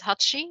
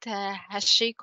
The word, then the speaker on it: Hachi: And yes, his name is Hachi, not Hashiko or any other pronunciation, because it is more to be a Japanese name.